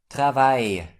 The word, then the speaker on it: travail: This letter combination is pronounced like Y in the English word my. So we pronounce it I. Have a look. Travail.